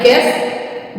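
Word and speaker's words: guess: पहले आया है तो यहां पर हो जाएगा गैस जी यू आई एल डी यहां पर जी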